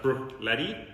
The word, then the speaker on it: Bruichladdich: name so if you break it down it's pronounced brooked Letty okay so this is called the Port Charlotte